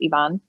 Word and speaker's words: Ivan: actor is ivan hasso spelled like ivan but it's pronounced evon and i met him